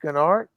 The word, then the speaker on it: Gennard: Gennard Bricksar, you are the first person to pronounce my surname with a soft G for the first time in at least 10 years. Greatly appreciate that. So it is Gennard.